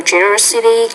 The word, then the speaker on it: generosity: And eventually, I was moved by her generosity, kindness, sense... It's a generosity, so put stress on that 3rd syllable.